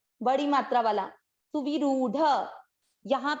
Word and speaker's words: सुविरूढ़: Same यहाँ पर वी की मात्रा छोटी है, तो इसको दीर्घ ना करें, और ये जो रू की मात्रा है ये है बड़ी, र की मात्रा, तो ये वाली मात्रा को अपने को दीर्घ करना है। सुवी सुविरूढ़, सुविरूढ़, सुविरूढ़।